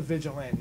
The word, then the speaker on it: vigilante: I think it's the vigilant knee. I think that's what you've been saying on the commentary. Yeah, that's what he said. It's actually pronounced vigilant for vigilant.